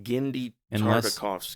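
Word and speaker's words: Genndy Tartakovsky: But have you ever heard of Gennady Tartakovsky? No. Gennady Tartakovsky.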